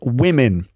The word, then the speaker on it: women: o in woman w-o-m-e-n the O is pronounced with an e sound and the E is also pronounced with an e sound so we have women